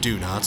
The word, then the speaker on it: Donots: Donots, and yeah, it is pronounced Donots, I double-checked, are a German punk